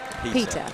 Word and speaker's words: pita: It's very important you pronounce it pita. Not Peter.